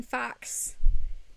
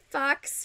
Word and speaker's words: faux: the thing is uh fox fur fox versus foe f-a-u-x fox it seriously it looks like you pronounce faux fur as fox when i was when